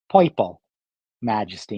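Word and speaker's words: Poiple Majesty: they wanted me to call it piple majesty and spell it P o i p e all my I mean I don't really hear it that much but my New York accent which again I only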